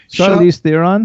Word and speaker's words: Charlize Theron: Charlize Theron.